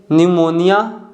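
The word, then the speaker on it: pneumonia: इसका correct pronunciation है receipt. Fourth one है टोमेन। फिफ्थ वन है न्यूमोनिया और लास्ट वन है न्यूमेटिक।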